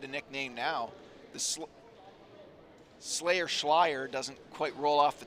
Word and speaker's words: Schleier: I just got confirmation from the Ottawa bench that I've been using the incorrect pronunciation. We can no longer call Kellen the Slayer because it doesn't rhyme. The last name is Schleier.